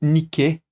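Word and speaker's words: Νίκη: E no grego antigo, a pronúncia seria algo como niqué, que significa literalmente vitória.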